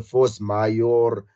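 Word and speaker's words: force majeure: they say verse Maya Force mayor uh I don't know how you guys want to but it's like force like the English word force and then Mayo is like m-a-j-e-u-r-e how you pronounce that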